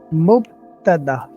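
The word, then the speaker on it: مبتدأ: me try to find a way how to pronounce it. Yeah, yeah, no problem. Uh, is it Maudu? Mubtada. Muqtada, okay. Okay. So say it 3 times so that you can get used to it. Muqtada. Mubtada.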